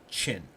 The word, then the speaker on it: Qin: Now, Qin is pronounced Qin.